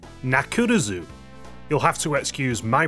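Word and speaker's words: ナックルズ: had to be changed in japanese knuckles name is pronounced nakurazu you'll have to excuse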